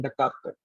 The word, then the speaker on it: Descartes: The letter S is silent. René Descartes. We are reading his name as like, see, this is the scientist behind this.